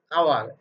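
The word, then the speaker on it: hour: welcome after dash আওয়ার, dear learners আওয়ার, এইস ও ইউ আর, এইস ও ইউ আর, আওয়ার মানে ঘন্টা, এই আওয়ার এখানে এইসটা অনুচ্চারিত, এর পরে যে লেটারটা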